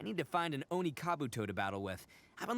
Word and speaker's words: Kabuto: I know it's pronounced it's actually said Kabuto. But us Americans that play Pokemon called him Kabuto.